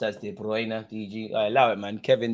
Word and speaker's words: De Bruyne: Pronounced as De Bruyne, DG.